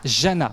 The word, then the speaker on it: Jana: Jana. Jana, je mets un D devant.